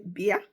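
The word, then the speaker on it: bia: So if you're telling someone to come, you say beer. I'll spell it in English. B I A.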